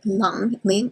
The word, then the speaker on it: Lung: Pronounce with a short U.